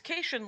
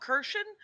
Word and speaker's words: Kashian: a mnemonic i have i always say my name is kaisen like vacation and then nobody nobody cares they're always like oh kirshan because and here's okay